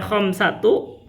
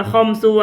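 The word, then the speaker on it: خمسة: Kalau ditambah dengan khamsatu, bukan hanya isruna saja, berarti bacanya khamsatu. Khamsatunya itu muannas. Wa isruna, bukan khamsu wa isruna, tapi bacanya khamsatu.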